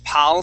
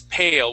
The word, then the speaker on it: pale: Instead of being pal skin, it is pale with the long a.